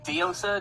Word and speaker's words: Diosa: Diosa? Dosa? How do you say it? Diosa. It's based on Spanish word.